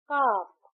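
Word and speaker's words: calf: हाफ एच ए F similarly काफ सी ए एल एफ काफ। बट यहां L silent है। हम कालक नहीं कहते। हम कहते हैं काफ।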